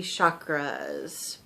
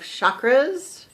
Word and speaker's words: chakra: really hard CH um that actually comes from ancient Sanskrit I've noticed something about myself that I keep trying to say chakra which is the ancient